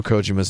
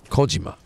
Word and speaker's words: Kojima: person says Hideo Kojima that's not right at all I lived in Japan for 10 years you jag-offs trust me I'm pronouncing the name correctly wait how'd it have my supposed to pronounce it Hideo Kojima I'm not gonna do that that it's just how bad it would just be racist its Kojima Kojima Nakajima Kojima Americans have this sick